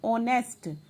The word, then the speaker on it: honest: यहाँ पे H जो है साइलेंट है और साउंड किसकी आ रही है? honest.